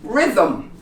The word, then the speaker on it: rhythm: Or when there's just an R in the beginning. This one, rhythm. Rhythm. And here, rhyme. You don't pronounce the H.